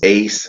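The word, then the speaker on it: Ais: Indian River is Ace. That's spelled A-I-S.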